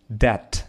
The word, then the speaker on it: debt: It isn't a good idea to get debt. Debt — это долг. Буква B, B не читается здесь.